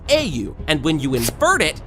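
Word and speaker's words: 英雄: you see in Japanese the word hero is pronounced a you and when you invert it you get UA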